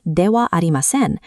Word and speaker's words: ではありません: Success with this pattern depends on three mechanics: pronouncing the particle as wa, dropping the na from adjectives, and choosing the ending that fits your formality needs. Mastering Dewa Arimasen provides an early look